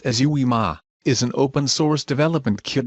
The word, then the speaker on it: UIMA: Unstructured Information Management Architecture, or UIMA, pronounced as UIMA, is an open-source development kit donated by IBM to the Apache Foundation and is downloadable from the Apache Foundation website.